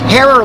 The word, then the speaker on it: Herer: He used to say it's Herer like terror.